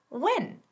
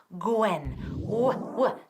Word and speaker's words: when: When. Eso es, ¿no? Gwen. Di hueso o huésped o cualquier palabra con ese sonido. When. Una vez más. When. Si oigo Gwen, me voy a enfadar.